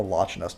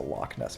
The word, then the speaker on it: Loch Ness: is that you know in Scottish there's lock which is spelled launch but it's not the lochiness monsters the Loch Ness Monster and now I'm